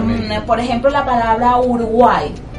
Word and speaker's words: Uruguay: A pesar de que la I, de que esa I al final es Y o Y, suena como vocal, porque estamos hablando de lo que es la parte fonética, y allí hay un triptongo, porque vemos Uruguay.